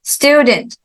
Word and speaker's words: student: so decide second syllable and then student student first syllable and then study study